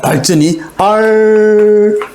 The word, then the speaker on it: 발전: 발전이. 전화 안 하고 발전하고 우리가 된소리로 다 발음하잖아요.